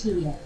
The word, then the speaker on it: Tian: It's spelled like Diane, but it's Tian.